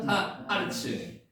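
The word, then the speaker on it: הָאָרֶץ: 천지월 트 하샤마임 하 아르츠 자는 아르츠 에르츠라고 발음도 합니다만 여기는 하가 들어가 가지고 발음이 변동됐습니다.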